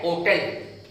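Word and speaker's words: hotel: Next है एन होटल, एन होटल, एच है, H silent है इसलिए एन होटल।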